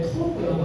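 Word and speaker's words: טוב: 이걸 발음할 때 토브라고 하는데요.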